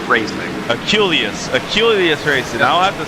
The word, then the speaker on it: Aculeus: Because I always mispronounce it. Yeah, it's Aculeus Racing. Aculeus Racing.